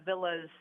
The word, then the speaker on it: Villa: I really appreciate that is it pronounced joy joy vill Villa Joy Villa okay V like a like a home route there like like a big Italian Villa home oh you're Italian that's